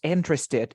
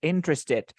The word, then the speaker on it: interested: 3 syllables, interested, interested. When you link the word, you say interested in because these like are interested in Canada.